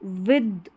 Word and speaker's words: with: विद, इसको विद पढ़ेंगे, विद। द का उच्चारण होगा TH के लिए, विथ नहीं पढ़ना है, विद।